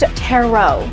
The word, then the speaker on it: tarot: absolutely fell in love with everyone these are terot cards pent it's pronounced terot I think for the most part everyone was